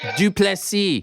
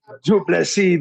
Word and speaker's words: Du Plessis: Dricus Du Plessis. Get it right. Get it right. Du Plessis, the S is silent.